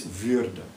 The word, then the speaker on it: würde: And you add an umlaut, which of course changes the pronunciation, and it's würde.